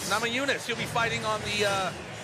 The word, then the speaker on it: Namajunas: How do we pronounce that one? Namajunas? Namajunas.